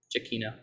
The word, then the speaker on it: Giacchino: it's just says it's way simpler than anybody ever thinks. Giacchino.